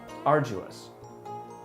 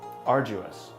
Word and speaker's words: arduous: on a daily basis this word is pronounced as arduous arduous could you give me